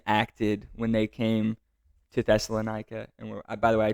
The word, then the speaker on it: Thessalonica: and his team acted when they came to Thessalonica. And by the way, I just learned that it's pronounced Thessalonica and not Thessalonica.